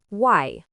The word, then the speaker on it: 外: Its pronunciation is wai.